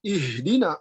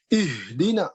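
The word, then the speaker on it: اهدنا: Ketika membaca misalnya ihdina, itu salah karena terlalu kuat. Ihdina itu terlalu kuat. Padahal huruf h itu adalah huruf yang paling lemah. Maka tekanan pada huruf h tidak kuat, ya, tetapi ihdina, ya. Jadi bacanya tidak ihdina, tapi ihdina, ya. Ihdinas siratal mustaqim, ya. Jadi h tidak dibaca h, tidak kuat, tapi cukup lemah. Tetapi dia lebar, ya. Kalau hamzah menekan, kalau h lepas.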